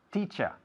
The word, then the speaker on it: teacher: Pues se dice teacher. Una palabra que acaba en ER, pero el sonido final es A.